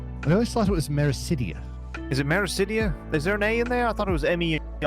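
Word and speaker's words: Meracydia: I can't be arsed to check me map right now, but I believe it's Mericidia. Mericidia. They're talking about... Mericidia is how I pronounce it, but, you know, names or whatever you say they are, really.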